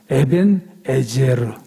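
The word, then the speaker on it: אבן העזר: 에베네셀. 근데 에베네셀은 에벤은 돌이거든요. 에벤, 돌. 에셀, 도움이라는 뜻이에요. 도움. 정확히 발음하면 에벤에제르. 그래서 에벤은 돌이고 에셀, 에제르는 도움.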